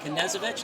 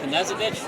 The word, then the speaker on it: Knezovich: You pronounce the K. You do pronounce or don't pronounce? You do. Okay. You do. Yep. So you eat with a knife, but your last name is That's right. How I'll remember it. Like Evel Knievel.